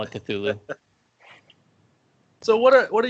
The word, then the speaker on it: Cthulhu: there that you wouldn't think is there it's cluel which it just doesn't sound as good it's call of cthulhu hollow give us give me that five